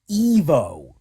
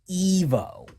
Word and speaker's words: Ivo: ] Evo it's pronounced Evo Robotnik it is pronounced Evo because it sounds like evil Love is Evil Evo